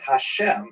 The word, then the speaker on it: Hashem: songs of God and the word Hashem of course is pronounced with the letter H but there is no